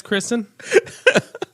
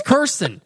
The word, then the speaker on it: Kirsten: apologize, Kristen. I didn't know your 4-year-old was listening. It's Kirsten. Oh my Guys god! always get her name wrong.